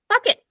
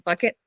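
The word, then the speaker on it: fakit: Fuck it. Fuck it. Yes, it is not. It is spelled similarly enough that when you see it, you're like, I hope it's pronounced fuck it, and it is.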